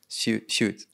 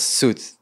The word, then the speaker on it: Zsüd: in it for suit shoot yeah i still try to pronounce it right it's perfect mine was it was suit but it's she there's a she in it somewhere yeah so um well